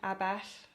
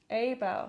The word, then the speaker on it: Abell: And in your home, John Abell. Is that how you pronounce your last name? John Abell. Abell? Yeah. Ah. Unfortunately got an English pronunciation. Right, the two L's.